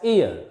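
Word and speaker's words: heir: H-E-I-R, here this H is silent, is not pronounced, it is pronounced as ear.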